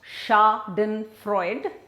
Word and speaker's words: Schadenfreude: word German word schadenfreude so it's pronounced shock then Freud and you can see the spelling it's quite different now schadenfreude is what typically happens